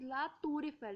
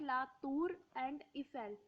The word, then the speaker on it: La Tour Eiffel: So we will pronounce R and E together. That's why it is La Tour Eiffel, not La Tour and Eiffel.